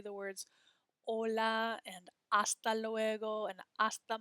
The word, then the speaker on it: hola: Notice that we don't say the letter H in Spanish, right? When we say the words hola and hasta luego and hasta mañana, we're not pronouncing that H.